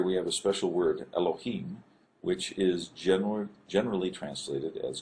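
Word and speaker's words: אלוהים: This is the lamed is a L sound, O, Ha, and then a long E sound, and then a final M or Mem. So Elohim.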